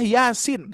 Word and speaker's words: Yasin: Kebanyakan yang membacanya 2 harokat dua-duanya ya. Yasin wal Qur'an gitu ya. Masih banyak yang membaca seperti itu. Padahal sinnya harus dibaca 6 harkat.